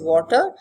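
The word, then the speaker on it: Watir: there is a tool called water pronounce it as water it stands for web application testing in ruby ruby is this programming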